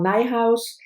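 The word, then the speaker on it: Nijhuis: quite a bit uh michelle nighthouse uh rhymes with my house so michelle nighthouse beloved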